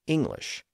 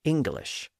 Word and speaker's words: English: I pronounce the word I don't pronounce the hard G in the middle but some of you do so I say English where some of you say English both pronunciations are common